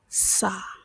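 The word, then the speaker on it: 사: Next we're going to do is sa, sa. Sort of like saying sun. It's not a hard one. It's a very soft sound.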